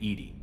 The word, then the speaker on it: EDI: Why are you named Edy? ED is the phonetic pronunciation of EDI. That is an acronym for enhanced defense intelligence.